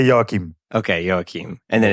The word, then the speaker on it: Joachim: get it right yeah so in Dutch we say okay but I won't ask you to pronounce it yeah so here everybody say yokim okay and then it's